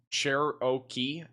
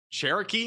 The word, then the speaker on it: Cherokee: It's a tricky one. Just think cherryoke and you'll get the hang of it.